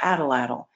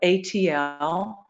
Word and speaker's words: atlatl: These people developed a kind of tool called the spear thrower or atlatl, and that's spelled A-T-L-A-T-L.